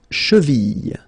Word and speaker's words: cheville: La cheville. La cheville. Remember, double L like that after I, y, y.